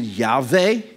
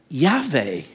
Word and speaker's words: Yahweh: Jehovah, but technically speaking, there's no such word as Jehovah. That's just phonetically put together. It's an abbreviation. The closest we get in Hebrew is, I guess you could pronounce it Yahweh.